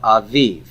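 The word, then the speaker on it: אביב: Now look here, my accent is on the bet in both cases. It's avihu and aviv.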